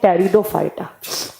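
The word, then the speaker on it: Pteridophyta: एक होते हैं थैलोफाइटा, एक होते हैं ब्रायोफाइटा, एक होते हैं टेरिडोफाइटा। यहां पर टी से प्रोनाउंस किया जाता है। पी को साइलेंट रखा जाता है।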